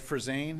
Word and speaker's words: Frizen: My name is Frizen. It's spelled F-R-I-Z-E-N.